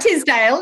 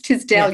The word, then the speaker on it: Tisdell: Do people say Tisdale? It's not Tisdale, it's Tisdell.